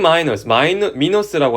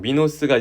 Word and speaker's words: 미노스: 가서 자 왼쪽으로 봅시다 킹 마이너스라고 하죠 보통 미노스가 그리스식 발음인데 미노스 왕은 데달루스의 작품